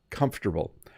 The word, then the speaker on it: comfortable: Now, when you see the word comfortable, you might want to try and pronounce all of the sounds in the word, but we just say comfortable.